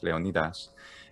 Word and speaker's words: Leonidas: mark the jackson angry leonidas and the ass ending is also typical of doric where the letter eta e is normally ah in doric which is like um